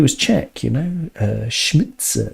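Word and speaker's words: Šmicer: Czech you know uh schmitzer is the pronunciation because the S has a little V on the top so it's a sh and the C in check is TS so schmider schmitzer okay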